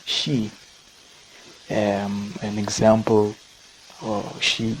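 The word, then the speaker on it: 四: it's associated with death one of the ways to pronounce the number four in japan in japanese i should say is she um an example or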